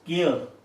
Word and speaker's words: care: Now this is care. And we don't pronounce R, so R sound, so we can write it in brackets if we want to. Care.